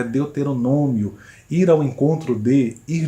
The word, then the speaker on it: deuteronômio: Deuteronônimo, quando o correto é deuteronômio.